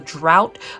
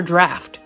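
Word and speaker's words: draught: Is it drought or draft? Draft. You guys recall? D-R-A-U-G-H-T. Well, how do you pronounce that? Draft. D-R-A-U-G-H-T. The Draft of Living Death? The Drought of Living Death? I'm gonna say draft, since I learned that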